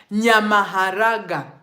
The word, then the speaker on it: Nyamaharaga: Nyamaharaga. Can you repeat that? Nyama means meat. Maharaga was supposed to be maharagwe, like beans.